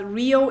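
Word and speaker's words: Reo: Uh, just a little note that Rio is spelled R E Oo, not R R I O. R E O with an E. Yeah, it's not like Rio de Janeiro. It's like Leo but with an R.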